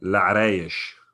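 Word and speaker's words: Larache: Larash.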